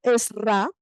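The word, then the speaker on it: Ezra: muy interesante Recuerden que el rabino es ra es ra se escribe e Z r a y la a tildada es ra dice que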